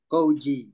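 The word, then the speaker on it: Coji: Is it Kohi? Or... My name is pronounced as Koji. C-O-J-I.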